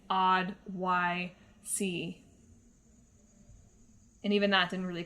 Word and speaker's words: Oddysee: gotten Oddworld Abes Odyssey I have to pronounce it like that I can't say Odyssey or you might think that I'm saying the word Odyssey when I'm in fact saying odd y c and even that didn't